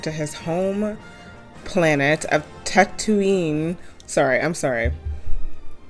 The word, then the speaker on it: Tatooine: his home planet of Tatooine sorry I'm sorry how do you say that Tatooine Tech Two Ein Tatooine Tatooine this location is called Tatooine Tatooine easy Once you know Tatooine and now videos